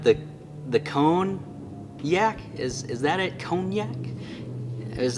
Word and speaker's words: konjac: But I had this wonderful comment from an awesome YouTuber where he says, Brother David, Konjac is pronounced cognac. Is that right? Cognac? C-O-N-E-Y-A-K? Cognac? Cognac? Cognac. Like the liquor.